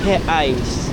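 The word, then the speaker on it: reais: pede 10 10 he ang spelling re re pero ang magiging pronunciation ay he eyes yung R nila Parang he h eyes oh Grabe ang laki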